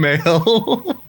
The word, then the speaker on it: Mael: To clarify, by male you mean M-A-E-L. Yeah. Okay. Like, well, I guess it's Like Maelstrom. yeah.